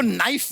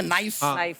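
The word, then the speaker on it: knife: सलमान जी आपको नाइफ word मालूम है नाइफ। उसमें शुरुआत में जो के होता है वो क्या है? साइलेंट आप भी रहिए।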